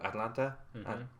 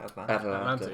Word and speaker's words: Atalanta: They just drew to Atlanta. Is that how you say it? Atalanta.